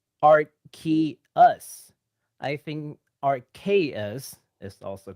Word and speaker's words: Arceus: I looked into it, and Arceus is actually the proper English pronunciation. Well, Arceus.